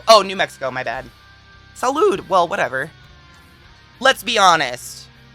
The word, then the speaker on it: salud: only know medical spanish is it salute that's what i was gonna say but i couldn't remember salud it is salud oh my god i